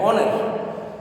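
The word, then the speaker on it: honour: ऑनर में h silent रहता है, ऑनर।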